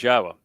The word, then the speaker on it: Yahowah: Torah so this is not difficult to to understand how to pronounce it and so it is